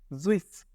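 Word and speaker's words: süß: এই যে আপনাদের এখানে যে উ উমলাউটের উচ্চারণ দেখাইছিলাম উই, ঠিক সেই ওইটাই কিন্তু এইখানে ব্যবহার হচ্ছে। জুইস, জুইস অর্থ মিষ্টি, জুইস অর্থ মিষ্টি।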